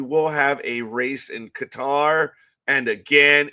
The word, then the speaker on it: Qatar: And I believe we will have a race in Qatar. And again, it's Qatar. It's not Qatar, you elitist dumb asses. It is Qatar. You ask someone from Qatar, they will tell you it's Qatar. Ugh.